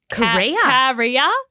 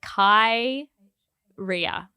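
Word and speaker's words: Khair: Korea? I looked up how to pronounce it. It's not spelled like Korea, the country? Okay. No. Like Korea? It's Khai, like Kai Ria. RIAH.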